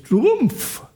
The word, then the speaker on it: Trump: Sí, a mí me molesta que se que todo el mundo dice Trump, aunque es Trumpf, porque él él tiene, digamos, su abuelo es de Alemania, digamos, él es un